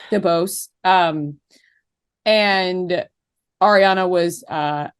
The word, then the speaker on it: DeBose: That is how you pronounce her last name, right? I believe it's DeBose. DeBose.